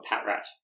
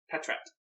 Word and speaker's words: Patrat: of this was before patr or Patrat Patrat I do the TR yeah the TR pat